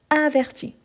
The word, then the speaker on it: avertit: à la fin ici averti j'entend le i averti averti donc ici c'est la différence par rapport à la prononciation donc ah mais je n'entends ni le S ni le T non mais c'est la marque par rapport à la conjugation donc je les écrit toujours mais je ne les prononce jamais donc averti averti averti